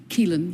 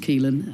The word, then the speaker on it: Caoilfhionn: Caoilfhionn, yes. Okay. It's got rather a lot of letters, yes, but it's just pronounced Caoilfhionn.